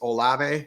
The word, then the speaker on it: Olave: Number 2, and I don't know how to say his last name, but he's the Saints receiver, Chris Olave. Is it Olave?